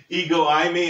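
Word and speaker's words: ἐγώ εἰμι: keep putting up there I know the spelling looks like it doesn't sound like that but uh I've actually gone to pronunciation my Greek pronunciation and ego imy is how most people say this so uh I know it sounds you know different like they got the E and the eyes mixed up it's not true it's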